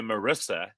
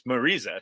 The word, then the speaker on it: Marisa: I would call her Marissa, when in fact, and she's on my one-on-one now, she is actually, it's Marisa. It's spelled with one S, the way you would say Marissa, but it's actually Marisa.